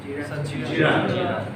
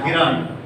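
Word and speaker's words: gerund: জিরান। বানান কি জিরান? GERAND। জি এর উচ্চারণ বয়ের মতো হয়, এটা বলা যাবে না গিরান জি স্যার। বা গেরান, এটা বলবেন না, জিরান।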